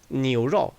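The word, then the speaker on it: 牛肉: 앞에 자음이 붙게 되면 이 여우가 단독으로 쓸 때는 여 이렇게 쓰이다가 앞에 성모가 붙게 자음이 붙게 되면은 약화됩니다.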